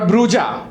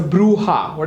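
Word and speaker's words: bruja: तो स्पेनिश में उसे बोलते हैं इट्स नॉट ब्रूजा इट्स अ ब्रूहाट इज इट अ ब्रू हा राइट सो जस्ट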